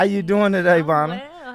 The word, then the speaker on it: Bonna: pronounce it? Bonna Bay, yes. Bonna Yes. Bonna what? It's Bonna.